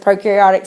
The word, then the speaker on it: prokaryotic: by a bunch of prokaryotic cells deciding to live together in the same cell. But anyway, that is, so they're going to be the most ancient. Prokaryotic, we know that pro rhymes with no.